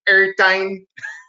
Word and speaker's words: Ertine: And that's how he pronounces it. Ertine.